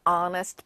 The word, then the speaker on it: honest: 그러면 he is an honest boy. 이게 honest가 아니고 honest. h 시작됐지만 honest, 정직한이라고 했을 때는 h가 발음이 안 되고 스펠링만 있기 때문에 an을 붙여야 돼요.